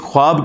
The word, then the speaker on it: ख्वाब: वाव उड़ जाती है इसको पढ़ने का तरीका है ख्वाब ये खवाब नहीं पढ़ा जाता वैसे उर्दू में चल भी जाता है लेकिन ये लफ्ज़ है ख्वाब तो वा उसमें फिर साइलेंट हो जाती है तो यह